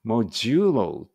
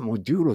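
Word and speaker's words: modulo: マイナスを持って MODO モジュロていう発音するのかな本当は私モデロって言っちゃうんですけどモジュロモモジュロみたいな感じですねの次に NEXT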